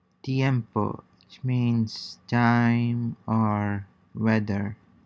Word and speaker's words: tiempo: siempre, tiene, tiene, yes, tiempo, tiempo, which means time or weather. Listen and repeat. Concentrate on combining the two vowels into a single syllable in the manner of the native speakers.